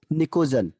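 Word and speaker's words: pnictogen: एक और नाम है इसका, इसको कहते हैं निकोजन। पी इसमें साइलेंट रहता है, निकोजन्स।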